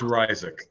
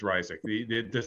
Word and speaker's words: Ryczek: It is Ryczek. Well, I shouldn't say the correct. That is pronunciation I use. Yeah. It's Ryczek. That's not the correct Polish one, but we've anglicized it.